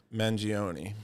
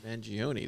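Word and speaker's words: Mangione: is the rid of Luigi how do you pronounce his last name mangion mangion this is mostly harest territory December 22nd Elvis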